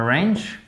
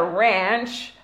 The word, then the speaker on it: wrench: But you do not pronounce the W, right?